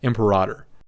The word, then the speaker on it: Imperator: someone pointed out that it's actually pronounced Imperator. Imperator.